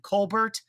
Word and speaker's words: Colbert: stuff Stephen is smm Colbert spelled like colar but you pronounce the T that will do it